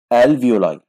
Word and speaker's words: alveoli: Or alveoli. Alveoli. خلي بالك من النطق.